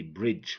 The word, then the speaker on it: bridge: bridge edge badge budget some people think that the D is not silent because we say bridge will pronounce that sound now it's silent it's not pronouncing because you know G makes the sound yeah so we say bridge without the D okay sign design aligned